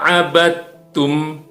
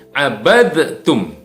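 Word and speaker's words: عبدتم: jadi tidak dipantulkan ke tips membacanya adalah waalaikum ahhabit oemma abadtum bukan abadtum eh jadi tidak dipantulkan lagi walau Anna Abby tummala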